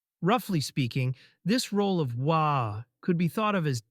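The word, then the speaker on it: は: For instance, Chinese and Korean have a similar feature. Okay, let's now take a look at the hiragana part of this sentence. This symbol, usually pronounced as ha, here, makes the sound wa, and it is basically untranslatable in this context.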